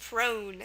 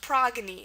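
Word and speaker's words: Progne: would say oh maybe it's a French word pronounced prone but it's not it's a Greek word um pronounced progy and that's how it should be pronounced because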